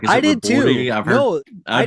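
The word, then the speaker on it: Ribordy: Robordi? Yep. Okay. I asked him before our interview just to make sure. I was like, "Is I it did Robordi?"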